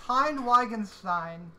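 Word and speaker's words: Heine Wittgenstein: Okay, so it's pronounced Hein Wittgenstein, and it's Gleinreich.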